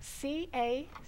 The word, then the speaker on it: cacao: bar, comes from this cacao. How do you spell that? C-A-C-A-O, cacao. Oh, like cocoa. C-A-C-A-O. Right. Like cocoa almost.